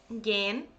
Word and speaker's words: gehen: Okay, so basically when h stands without c, okay, then it's not pronounced, but you need to prolong the verb.